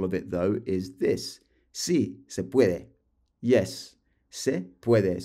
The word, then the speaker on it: sí: And don't forget the accent on the I here, chicos. That means it's yes. If you get rid of the accent, if you omit it, and it's just SI, that means if.